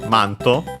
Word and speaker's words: マント: Uh it's accented on the first uh syllable m on the mass.